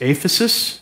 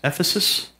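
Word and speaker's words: ἄφεσις: the Greek is called it's spelled with an a it's aphasis Ephesus aphasis I don't want to say Ephesus because it sounds like the Church of Ephesus aphasis the definition is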